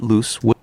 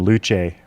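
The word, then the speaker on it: Luce: his first voice over he kept pronouncing things all kind of French and foreign Henry loose the founder of Time Magazine he'd call him luch or lose but Loose was also closely so I sent him notes and he's corrected that pronunciation that's good the Rockefeller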